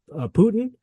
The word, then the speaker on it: poutine: And I know I've heard the Canadians pronounce it Putin.